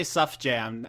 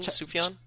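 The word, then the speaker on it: Sufjan: pronounce it I said I used to say SF jam and that's wrong it's su su sfan San Steven sufan chish Gambino says it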